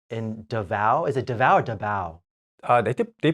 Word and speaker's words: Davao: in Philippines yes in Davao is a devour Davao they pronounced which is an island off the Philippines